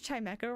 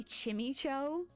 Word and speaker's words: Chimecho: People who pronounce Chimecho wrong, like, I know it's my favorite Pokemon, but like, how? How do you pronounce that one? It's Chime and Echo. The people who say Chimicho, like, I don't even